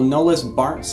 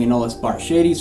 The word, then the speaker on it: Anolis bartschi: So the Cuban cliffinol, Anolis bartschi. I've been saying Anolis bartschides for a long time, but I learned the proper pronunciation a little bit ago, honestly.